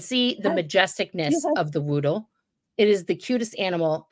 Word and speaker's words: Whoodle: You could look up a Woodle, WHOODLE. Just Google that right now. Do yourself a favor and see the majesticness of the Woodle.